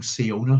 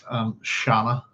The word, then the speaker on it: Siona: who I've been calling SIona for a long time. And it's quite possible that that's not how we pronounce her name. It's quite possible that it's Shana.